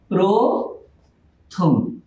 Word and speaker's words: প্রথম: যেমন আমরা যদি একটা উদাহরণ দিই, প্রথম এর উচ্চারণ কি হবে? প্রথম।